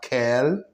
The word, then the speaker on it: quel: We have quel, quel, quel, quel. The same pronunciation, but for different writing, which means what.